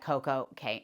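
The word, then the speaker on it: CocoCay: no surprise to anybody, Perfect Day at Coco K. Now, I know some people pronounce it perfect day at Coco Key, but this rhymes to me, so let me know if I am wrong.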